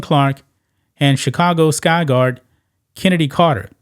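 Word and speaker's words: Chennedy: and Chicago Sky guard Kennedy Carter I just found out that's the way you actually pronounce the name yeah now with a K with with a CH but then in a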